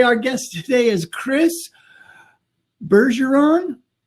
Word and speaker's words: Bergeron: guest today is Chris Bergeron. Right. Oh, yes. Okay. Normally I don't do too well with last names. Is it a hard G or a soft G? Definitely a soft G. It's French.